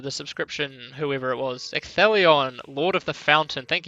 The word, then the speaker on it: Ecthelion: Yes, it's not ECT the Lion either, as I think I've seen someone try and pronounce his name before. That's quite funny. Oh, at least I hope to heck that it's Ecthelion.